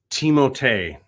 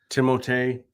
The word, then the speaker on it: Timothée: Okay, fun fact, it's pronounced Timothée. Timothée.